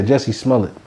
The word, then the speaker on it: Jussie Smollett: How you pronounce his name? I think it's Jussie. Yeah, Jussie Smollett.